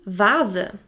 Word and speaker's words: Vase: Now I'm going to give you some examples of foreign words that we use in the German language that start with the letter V, which are pronounced like the English V.